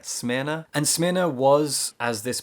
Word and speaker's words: Smyrna: city is called smyrna not sure that's how it's pronounced but that's how i've been saying it smearna and smyrna was as